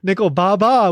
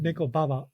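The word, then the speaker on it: ネコババ: so that that i i think i pronounced it a little off but nicole baba would be like the old lady cat but neko baba i guess would be the more accurate pronunciation of this which the kanji when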